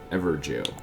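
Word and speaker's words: Evergaol: and that someone is in this ever jail that's how you pronounce that these are cool instances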